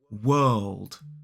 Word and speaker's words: world: that one first so we have W and that beautiful kind of long uh sound it's the same sound we see in a word like bird and then we have the dark L which is kind of like an all sound so we make this W uh old D World world don't try to make